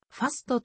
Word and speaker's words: ファスト: sa 単語のファースト米語では fst 擬似的にはファストと発音するに由来して